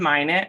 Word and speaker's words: Minot: I live in Blue Hill, Maine with my husband, Jesse, and our 3 boys, Tilden, Minot, it's tricky to pronounce, but Minot and Porter.